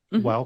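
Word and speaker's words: Weill: Center and earned her PhD from how me pronounce that is that while or whale wild Cornell while Cornell Graduate School of medical sciences and did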